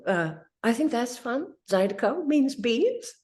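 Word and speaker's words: zydeco: line in the song is something like learo pronounced zido yeah are not salted I don't know what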